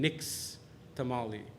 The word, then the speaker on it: Nixtamal: wood lie solution and the Spanish couldn't pronounce the word nish tamale so it became Nick's tamale and it became Nixtamal